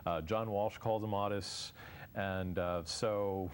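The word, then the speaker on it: Ottis: John Walsh calls him Otis and uh so it is pronounced often both ways but Otis I believe is the correct way well go tell us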